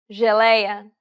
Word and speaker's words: geleia: The letters J and G can sometimes be pronounced like J. It sounds like the S in pleasure.